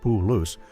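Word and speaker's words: Palouse: The Paloo or Palace, both pronounced Puloo, are thought to have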